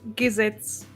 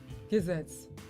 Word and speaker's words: Gesetz: And then Gesetz. Gesetz. Which reminds me of gesagt. Like, was hast du gesagt?